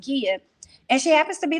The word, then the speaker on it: Gia: her name is prince it looks like it's jia but it's pronounced kia and she happens to be the wife to